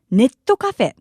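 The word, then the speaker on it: ネットカフェ: it's known in Japanese, Neto Cafe. Neto Cafeto Cafe. As you've noticed, this is simply the Japanese pronunciation of net cafe, but we call it Neto Cafe.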